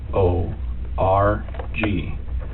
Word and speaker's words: Ravnsborg: Ravnsborg. Okay. But it's pronounced rounds, like a round circle, Okay. berg, like an iceberg.